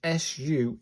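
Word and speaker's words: ス: Sound of su, sounds pronounced like this su in super.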